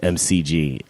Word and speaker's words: McG: know it's crazy I didn't know that you pronounced it Mick gee I thought I was just MCG that's how I was saying it the whole time and I'm pretty sure it's Mick - is it make G yeah thanks yeah